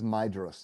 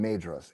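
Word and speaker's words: Maedhros: And TJ, I think about you and Lee a lot because as she's made clear before, he mispronounces Maidos throughout the entire book. He calls him Madros every single time.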